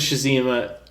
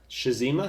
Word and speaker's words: Tsushima: Ghost of Tsushima, a console seller. Wait, who? Ghost of what? Shazima?